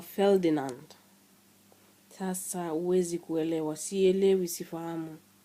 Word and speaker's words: Ferdinand: Mwingine atakwambia anaitwa Ferodinada. Sasa hii Ferodinada hii nilisikia mahali karibu na mimi, na nilirudi kujua kwamba kwa Kimombo inatakiwa kutamkwa Ferdinand.